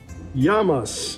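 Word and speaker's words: γεια μας: old ladies leap cheers how do you say cheers and grease yamas it means to our health yamas well what is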